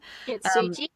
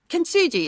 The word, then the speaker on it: Kintsugi: Kintsugi. Kintsugi, is it?